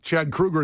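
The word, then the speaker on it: Kroeger: Krueger from Nickelback he's Chad Krueger is how you're supposed to say his name yeah not k he also ruin something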